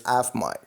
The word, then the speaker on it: AFMOI: This is once again your Prabhu Swaminathan, the founder and the Chief Heart Officer of AFMOI, pronounced as AFMI.